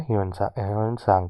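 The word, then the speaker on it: Hiuen Tsang: जो travel account है ह्यून सांग का, इसको सांग ही पढ़ते हैं, टी साइलेंट होता है।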